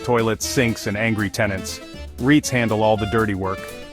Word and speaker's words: REIT: estate investment trusts or REITs pronounced REITs but not quite the same as the sound you make when you accidentally stub your